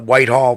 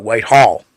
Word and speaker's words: Whitehall: Believe it or not, locals do not call it Whitehall. They call it Whitehall. The emphasis is on the hall, not the white.